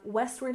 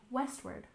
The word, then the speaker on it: westward: and finally we have Westward Expansion we stress the first syllable in westward westward and expansion we stress